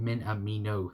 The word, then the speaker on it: Minamino: note by telling you how to say it minamino there we go thank you made by for